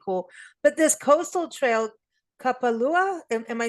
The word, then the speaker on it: Kapalua: But this coastal trail, Kapalua, am I saying it right? Kapalua.